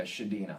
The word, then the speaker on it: Chadinha: and the Simba am I correct am I pronouncing that it's a tough one it's uh shadina okay I was butchering it you could